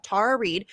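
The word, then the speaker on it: Tara Reade: the other day amazing it's tara and i keep i wish everybody would say it the right way because then when somebody says it wrong then i say it wrong because i'm terrible at that stuff anyway it's tara tara reed um yeah she's amazing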